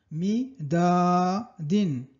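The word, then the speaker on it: مداد: Entonces juntar mi, da, din. Midadin es midadin, que es la tinta, ¿vale?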